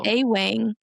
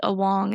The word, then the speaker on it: Awong: Yeah, it's cuz his Instagram And your last name is A Wang. And then he was like, "No, it's Awong." And I was like, Yeah.